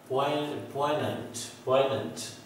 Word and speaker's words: poignant: The word is poignant, not poignant or poignant. So see the pronunciation of the word. This is phonetic symbols. P stands for P sound, and this is OE, poi, and same sound, and this J stands for ya sound in phonetics.